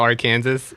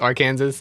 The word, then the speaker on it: Arkansas: we talk about can we talk about how Arkansas isn't pronounced Arkansas and instead it's pronounced Arkansas yeah Arkansas Arkansas